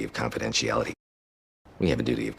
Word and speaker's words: confidentiality: Secondary stress, little light curve up, confidentiality. And then we get the bigger stress there. Notice this T is a flap T, confidentiality. And this one, confident, sounds like a CH sound.